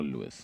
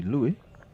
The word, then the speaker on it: Louie: Is it Lou or Lewis? It's Should be Louie. Louie as it's pronounced. I think it's French. So they will pronounce it as Louie.